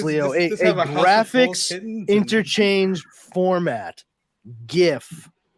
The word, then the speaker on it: GIF: GIF, not a GIF. I don't care what the guy who invented it fucking calls it. Graphics begins with a hard G.